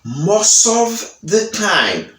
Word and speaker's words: most of the time: Et nous avons l'autre mot qui c'est, une petite phrase, américain dit most of the time. Il pas dit most. Il pas prononcer T. Il dit most of. Ouais, il fait liaison, il link mot ensemble, most of the time.